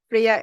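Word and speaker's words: Freja: obviously a registered trademark for somebody else so Freya is pronounced with a why but it's still with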